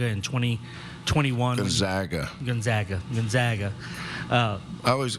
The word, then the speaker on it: Gonzaga: This game marks the first ever meeting between Gonzaga and Houston, but Samson last played against few Zags in 2007 when he was with Indiana.